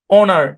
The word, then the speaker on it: honour: অনার। কি উচ্চারণ? অনার। এখানে এইচটা সাইলেন্ট। এইচটা সাইলেন্ট বলছি, মনে রাখেন, এইচটা সাইলেন্ট।